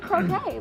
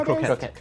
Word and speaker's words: croquette: Croquet is a game. You're thinking croquette. I want a hammer. Okay, but it's a croquet. It's spelled Croquette? It's Spelled differently. ETTE at the end.